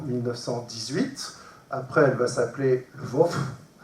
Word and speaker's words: Lwów: Après, elle va s'appeler Lwów. Je ne sais pas comment on prononce, mais en polonais. L-W-O. Lwów. Lwów, voilà.